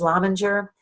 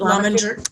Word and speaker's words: Lominger: Pat is certified in, I'm going to say this is Lominger. Please correct me if it's wrong, Pat. Lominger Career. And is it, how do you pronounce it? Is it Lominger? Lominger.